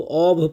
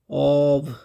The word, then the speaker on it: of: अच्छा इसका उच्चारण याद रखिएगा इसको ओभ पढ़ते हैं। ऑब इसमें एफ का उच्चारण जो है भ होता है।